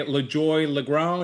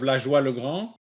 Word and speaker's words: LaJoy Legrand: it well because here people would say LaJoy Legrand instead of LaJoie Legrand. Or a LaJoy Legrand, like it's heavy on Legrand, the yes. grand, Legrand.